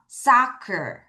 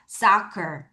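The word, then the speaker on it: soccer: 자, s o를 읽고 c어를 읽을게요. 따라하세요. 원래는 socer 하는데 so 입을 크게 버릴게요. 다시 한 번 더 socker 그렇죠? 그래서 C가 크크크 발음이 나는데 C가 두 번 쓰이는 거를 여러분 잘 보셔야 되겠어요.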